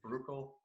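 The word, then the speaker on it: Brukel: up in so it's it's very belgian in its pronunciation it's actually political but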